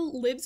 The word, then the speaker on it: Libs: but I'll allow it also Libs is allowed because it's cute and it rhymes with ribs which I find kind